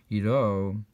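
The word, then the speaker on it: עירה: similar to the word Iro, that's also spelled with a hey and pronounced with a cholem, and that's the idea that Havaya is great when he's in the Ir Elokeinu.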